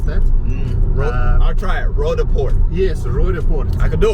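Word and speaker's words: Roodepoort: So, so we're going past an area now called Rodeport. Okay. I know you won't be able to pronounce that. I'll try it. Rodeport.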